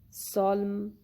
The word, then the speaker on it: solemn: The letter N is not pronounced or is silent when it is in the end of the word and letter M precedes it, like in column, dam, solemn, autumn. In all these words, letter N is not heard. It is silent.